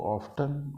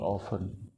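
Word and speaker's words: often: इसको ऑफ्टन और ऑफन दोनों बोल सकते हैं, दोनों प्रोनाउंसिएशन ही ठीक है।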